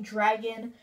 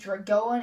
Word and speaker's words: Dragaon: So I will be saying dragon. So just anyone in the comment section, if for some reason you just think that it should be Dragoan and it should be pronounced that way, well, sorry, this is Dragon.